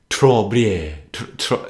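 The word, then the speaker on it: Très Bien: Ever heard of the group Trobien? It's French, okay? It's spelled T-R-E-S-B-I-E-N.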